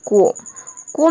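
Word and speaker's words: comb: जैसे कि देखिए एग्जाम्पल, कोम में यहाँ पे आप कोम्ब नहीं बोल सकते हैं, ये कोम होता है।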